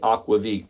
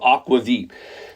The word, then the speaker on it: aquavit: be very clear so we are talking about Aqua Veep now aquavit is a bit of a uh American pronunciation of it truth be told when you go into the Nordic countries every country has their own version of not only aquavit but also their own way sometimes to spell it and